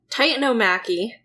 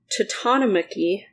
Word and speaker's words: Titanomachy: Okay, so guys, beforehand, I looked it up, and there were several pronunciations that are considered correct. We have the Titanomachy, that was one. Then we had the Titanomachy, which was... I'm gonna say Titanomachy, and Yeah, you're do just gonna have that.